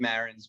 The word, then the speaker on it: Marans: I think we pronounce it Marans because that's the way the guy at Ellis Island pronounced it, but who the hell knows?